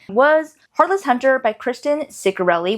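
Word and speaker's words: Ciccarelli: Heartless Hunter by Kristen Curelli, which by the way, I watched two realels where she was introducing herself and that is how she pronounced it.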